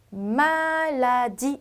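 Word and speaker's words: maladie: 자, 제가 모음 다음에 붙어서 끝난 이는 발음을 하지 않는다라고 했어요. 어떻게 읽으시면 될까요? 말라디 이렇게 되겠죠.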